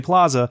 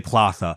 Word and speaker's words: plaza: classes I was say don't say Plaza say platha and I'm like but